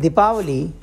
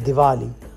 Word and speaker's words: Diwali: And Dipavali has become Diwali. So they take away that syllable and it's pronounced differently.